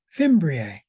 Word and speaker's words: fimbria: of um eukaryotic cells so it is fim fimbria I've been saying it wrong fimbria so that's the only part of